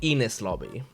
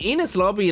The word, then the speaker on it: Enies Lobby: I've been calling it Enis lobby, but I think it's Enies lobby.